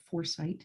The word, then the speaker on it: FourSight: And so I went to my partner, which is a company based in the US called Foresight, and it's spelled Foursight.